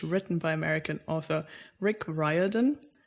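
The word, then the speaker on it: Riordan: by American author Rick ryodan which he pronounces his own last name wrong just putting it out there because I think the Irish pronun is Ren like he lives in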